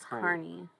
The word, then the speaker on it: CUNY: No, CUNY pronounced Carney.